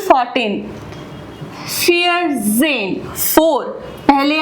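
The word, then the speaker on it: vier: Lesson to में तो जो वी की जो प्रोनन्सिएशन है वो एफ होती है। सो we don't call call it wear. We call it fear.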